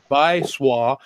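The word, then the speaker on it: 白左: I was confirmed by a Chinese friend that what I thought was Baizu pronounced Baisua. Baisua is a real word to describe SJW's self-described moral superiority.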